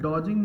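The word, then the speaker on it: dodging: कतना कह सकते हैं एंड डोजिंग में डॉग वर्ड आ रहा है या क्योंकि य पर डी तो साइलेंट है तो डॉग से आप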